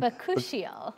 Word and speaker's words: bakuchiol: How do you pronounce it again? Bakuchiol.